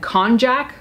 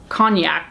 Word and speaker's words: konjac: bunch thing I think this is said konjac sponge I don't think it's pronounced cognac because that's a alcohol drink but this was spelled